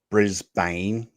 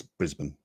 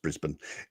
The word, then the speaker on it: Brisbane: But it's not Brisbane, it's Brisbane. Brisbane. Yeah, it's just Brisbane.